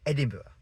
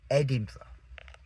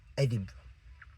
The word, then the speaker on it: Edinburgh: And it's kind of like hamburg like hamburg in Germany. Hamburger, you know, it sounds a bit like that. And I understand that completely, but no, no, no, no, no, no, no, no. It's Edinburgh. Edinburgh. Very beautiful city.